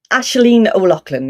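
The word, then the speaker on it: Aisling O'Loughlin: Have I pronounced your name right? Ashleen O'Loughlin.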